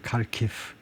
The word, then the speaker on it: Kharkiv: In central Kharkiv. 카르키프가 제2의 도시라고 그러죠. 이거 뭐 발음은 뭐 어떤 데서는 뭐 하르키우라고도 하는데, 하여튼 뭐 영어식으로 보통 네이티브 스피커들이 이제 이거 보면 카르키프라고 읽겠죠.